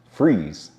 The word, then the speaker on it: Fries: is Fries Virginia well it's actually pronounced freeze Virginia not fries like the food freeze is located in